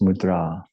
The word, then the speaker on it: mudra: spent years mispronouncing that uh that word should be pronounced mudra.